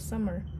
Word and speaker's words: Sammar: Do you pronounce it like the season summer? Rae asked the first time she had met him. Yes, but it does not have the same meaning.